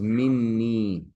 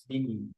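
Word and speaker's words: مِنِّي: It becomes minni. Minni. Yeah. Because you have to put a shadda on the noon. That's the only way to pronounce that. Yeah. If you don't, you end up with Mini.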